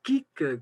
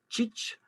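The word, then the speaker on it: kig: Pour le mot qui s'écrit K-I-G, il y a plusieurs prononciations, donc c'est la viande. Tout à l'heure, c'était mer, hein, pour ceux qui ne connaissent pas. Ça, c'est de la viande. Et on peut dire kik, comme ça se prononce. Notez qu'on prononce K à la fin, même si on écrit un G. On peut dire chich, chik, chich ou choch.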